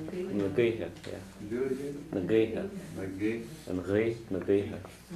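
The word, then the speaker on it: na gaoithe: We pronounce that like Nagi or what? Nagiha, yeah. Nagiha, yeah. Do it again? Nagiha.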